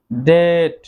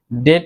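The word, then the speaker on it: debt: দেন রয়েছে ডেট, ডেট, এখানেও কিন্তু বি এর উচ্চারণ সাইলেন্ট থাকবে। ডেট এর অর্থ ঋণ।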